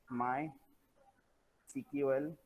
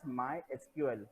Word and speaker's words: MySQL: If you have heard about my CQL, okay, many people call this as my SQL, but the pronunciation according to the industry point of view, so it is my CQL.